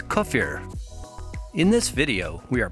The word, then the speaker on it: kefir: The term kefir has several pronunciations depending on your country of origin. Most people in the western US call it kefir, or sometimes kefir. The original Russian pronunciation, however, is kefir.